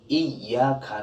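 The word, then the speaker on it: إِيَّاكَ: Iya di sini ya bertasjid. Iya bertanda tasjid harus kita membaca dengan cara nabr atau ditekan. Kalau kita membacanya secara flat, Iyyaka na'budu wa iyyaka nasta'in, flat secara itu tidak ada tekanan nabr pada ya bertasjid, sehingga ya bertasjid harus dibaca seperti itu dengan tekanan.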